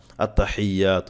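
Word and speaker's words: التحيات: আপনার সহি হবে একসাথে পড়তে গেলে অনেক ক্ষেত্রে উচ্চারণটা আসতে চায় না আত্তাহিয়াতু এভাবে বললে আপনারা পড়বেন আত্তা প্রথমে বলেন আত্তা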